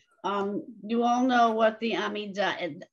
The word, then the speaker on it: Amidah: You all know what the Amidah, the Hebrew pronunciation is Amidah. The Yiddish way is Amidah. So I don't care what you do, what you say. I've sort of gotten used to saying Amidah because one of my principals insisted on it.